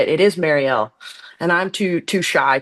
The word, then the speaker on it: Mariel: It is Marielle and I'm too too shy to do it.